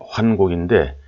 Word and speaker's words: 환국: 2049년에 여러 제후들과 약속하기를 한국의 오훈과 신시의 오사를 지켜야 한다라고 하였습니다. 그래서 한국의 오사, 한국의 오훈, 한국은 흔히 말하는 환국입니다. 환인의 환국인데 저는 뜻이 있어서 이거를 환국이라고 하지 않고 한국이라고 발음을 하고 있습니다.